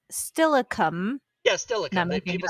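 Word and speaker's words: Steilacoom: the people who live there and it was pronounced stillicum yeah still accomplishment people say stalicum yeah or people say stylokum my favorite is a city that is also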